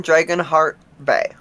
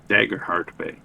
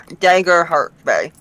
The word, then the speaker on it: Daggerheart Bay: poetic, was over in Dragonheart Bay. Alrighty. Daggerheart Bay, not Dragonheart. Yeah, Daggerheart Bay. It goes by a different name, but that is what the English pronunciation is.